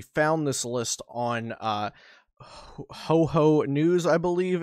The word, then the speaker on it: houhou: this list on uh ho ho news i believe it's pronounced uh h-o-u-h-o-u news i believe it's supposed to be pronounced similar to ho-oh the pokemon um so i'll link